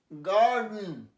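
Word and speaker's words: garden: আচ্ছা, যেমন কার, গার্ডেন, এটা উচ্চারণ অস্পষ্ট হয়ে যায়, গার্ডেন নয়।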